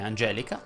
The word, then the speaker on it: Angelica: Se il tuo nome è Pietro, la E va aperta.